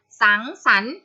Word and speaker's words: สังสรรค์: อ่าน ตาม นะ คะ สังสรรค์ เป็น ยัง ไง คะ ตัว กา ลัง ตัว นี้ ไม่ ออก เสียง ใช่ ไหม คะ เรา จะ ออก เสียง เฉพาะ พยัญชนะ ที่ อยู่ ด้าน หน้า พระ หัน พระ หัน